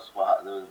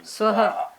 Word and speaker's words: Swaha: That instead of Swaha, that pronunciation also is a problem. Swaha. Swaha. So that aha, the aha sound, and there's one more.